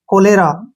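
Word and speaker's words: cholera: next word है हमारा सी एच ओ एल ई आर ए चौले नहीं पढ़ेंगे इसको सी के बाद तुरंत बाद एच आया है तो क का उच्चारण बनेगा ठीक है ना क और ओ से बना ओ ठीक है और एल ई से बना ले और आर ए से रा कोलेरा क्या पढ़ेंगे इसको कोलेरा कोलेरा का जो मतलब होता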